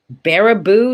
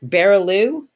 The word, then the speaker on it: Baraboo: think it exists anymore oh baraboo not bearaloo did i write it